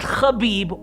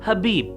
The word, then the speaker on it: Khabib: It's not Khabib or Kabib or even Kebab, it's simply Habib.